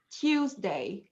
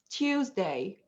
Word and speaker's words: Tuesday: it tuesday yeah but in the british accent we have to say tuesday tuesday oh and sometimes that turns